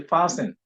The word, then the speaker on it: fasten: um morphologically realized as a verb we say fasten it is not to be known as to be pronounced as fasting no it is passing passing